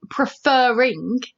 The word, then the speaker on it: preferring: the word prefer prefer when we say preferring the syllable fur is stressed i'm going to read it again preferring i have stressed it it's emphasized so when we add the